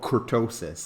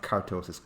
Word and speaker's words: kurtosis: Oh, kurtosis, not kartosis, kurtosis.